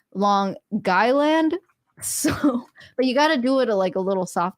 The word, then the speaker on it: Long Island: now maybe that's it I learned the proper way to say Long Island see I thought it you know in proper English coming from Washington State Seattle it's uh Long Island but apparently it's long guy land so but you gotta